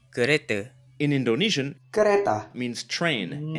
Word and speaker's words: kereta: Notice the Malay pronunciation of kereta. kereta, Final a is usually pronounced as a schwa in Malay, at least in Malaysia.